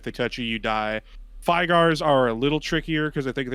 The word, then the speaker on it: Fygar: So, first of all, that is not called a Frygar, that's called a Fygar. There is no R at the beginning of it. It is a Fygar.